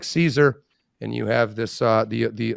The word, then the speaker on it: Caesar: About 15 generations later, you get to the time of Caesar, which is actually pronounced Kaiser.